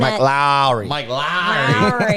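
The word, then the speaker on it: Mike Lowrey: Mike Lowry.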